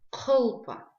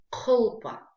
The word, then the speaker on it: кхылпа: Шапка на абазинском языке кхылпа. Кхылпа. Да? Кхылпа. Давайте еще раз напомним себе, что букву К мы произносим за счет размыкания задней части языка и гортани при выдыхании воздуха.